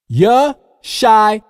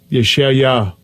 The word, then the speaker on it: Yeshaya: It doesn't matter if you spell it with an I or an A. The pronunciation is still Yeshaya.